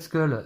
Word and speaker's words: Skull: de nos spectateurs de m'avoir aidé sur la prononciation de ce col oui on dit parce qu luz cool on dit plutôt skull effectivement alors je ne me rappelle pas son